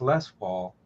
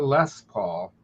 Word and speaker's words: Les Paul: Yeah, I have a really nice Les Paul. And to me, it just sounds weird saying it's a Les Paul rather than Les Paul with the accent on the last word.